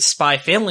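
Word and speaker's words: SPY×FAMILY: it's like an x the x is silent so i got a copy of the first issue of spy family and she was pronouncing it spy family and i was like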